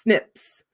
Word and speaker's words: SNPs: of single nucleotide polymorphisms snps pronounced snips the millions of markers